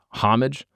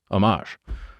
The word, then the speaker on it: homage: Like I have friends that say homage. And it's like you actually know what the word is. You just don't know how to pronounce homage. I think more people are saying homage now than homage.